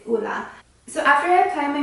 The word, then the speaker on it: Ole Henriksen: I always want to say Ole Henriksen because that's the way that it's spelled, but it's not Ole Henriksen, it's Ola.